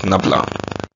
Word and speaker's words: nabla: this very well this this is pronounced as nabla NAA n a b